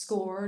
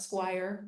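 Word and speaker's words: SCOIR: that you know that score is pronounced score not Squire like lots of folks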